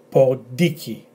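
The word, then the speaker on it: ποντίκι: So we've got p, o, d, e, emphasis on this e. So por di, k, e, por diki, pod and iki, por diki, which is a mouse.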